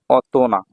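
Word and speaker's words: 大人: কি হয় বড় ব্যক্তি এটার উচ্চারণটা একটু ব্যতিক্রম সেটা হবে অতনা অতনা মানে হচ্ছে বয়স্ক ব্যক্তি বা প্রাপ্তবয়স্ক হ্যা অতনা এখানে ওহিত এরকম হবে না ঠিক আছে উচ্চারণটা একটু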